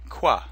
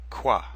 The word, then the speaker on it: quoi: like them to repeat you can simply say quoi and it's pronounced like Q W a qua qua many French books don't mention that quoi can